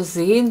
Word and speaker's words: sehen: 근데 sehen 동사는 예가 장모음이에요. 왜냐면 예 모음 다음에 하가 나왔으니까 이건 독일어에서 유일한 묵음 규칙에 해당하는 거라고 제가 말씀드렸었어요. 모음 다음에 하가 나오면 이 하는 묵음이 되고 그냥 죽기 뭐하니까 앞에 나온 모음을 장모음으로 만들어준다, 이런 말씀을 제가 드렸습니다.